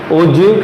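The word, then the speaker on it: ogive: ठीक है, तो वंस अगेन ओजीव करके इसको प्रोनाउंस करना है.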